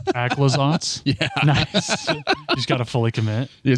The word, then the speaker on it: Aclazotz: Also, I think it's pronounced Aclazotz?